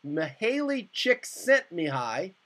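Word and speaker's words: Csikszentmihalyi: last 30 years psychologist Maley chick sent Mii that's how you pronounce it has explored optimal creative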